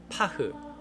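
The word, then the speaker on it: פך: 저의 스승이시며 아바트 안미의 라비 이작샵이라는 우리 모두가 파흐 파크라고도 발음하기도 하는데 뭐 히브리어는 상관없습니다.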